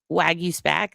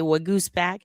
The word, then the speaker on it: Waguespack: You every single person you hear say his name is going to say it wrong. We had I say Wagus back. They say Wag Gooseback. He just said Wagentock.